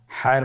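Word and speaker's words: ح: হায়ের মধ্যে কোনো নোক্তা আমরা দেখতে পাচ্ছি না। হা হরফটি কীভাবে উচ্চারিত হবে? হা হরফটি উচ্চারিত হবে কণ্ঠনালীর মধ্যখান হতে, গলা চিপে ধরে আপনি উচ্চারণ করুন।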